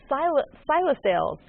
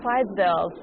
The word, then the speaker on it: Clydesdales: Navy Super Hornet demonstration, and the Budweiser Silosales. How do you pronounce it? Clydesdales.